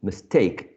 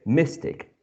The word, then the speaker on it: mistake: say take already so when we add this prefix we keep the stress in the same syllable mistake we don't say mystic um same thing with